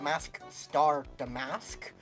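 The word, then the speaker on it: Mask☆DeMasque: I really like the double entendre with this dude's name, because it's, I think, as will be revealed soon, it is pronounced Mask Star Damask, which is Mask Star, like master, as in master thief, Oh.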